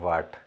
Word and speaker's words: watt: यहाँ पर वॉट हम लोग इंग्लिश का प्रोनाउंसिएशन जो रहता है तो वॉट ही बोलते हैं। और एक दूसरा वर्ड भी होता है आपका WHAT। तो ये वाला वॉट हमको नहीं पढ़ना है, हमको WATT वाला वॉट पढ़ना है, ठीक है।